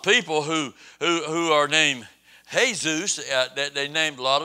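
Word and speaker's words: Jesús: who who are named hey-zeus that they named a lot of the spanish people name their sons hey-zeus they're not Jesus they just have a name that spelled the same way but they're not Jesus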